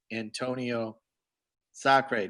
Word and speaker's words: Antonio Sacre: And every year that I go down there, there's this guy, Antonio Sacre.